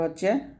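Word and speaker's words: حاء: জিম জিহবার মধ্যখান উপরের তলার সঙ্গে লাগিয়ে আমরা উচ্চারণ করব জিম এরকম ভাবে আমার সাথে আপনারা পড়েন জিম তারপর হচ্ছে হা এই হা টা চিকন করে বলতে হবে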